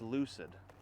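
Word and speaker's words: Euclid: It's pronounced Lucid.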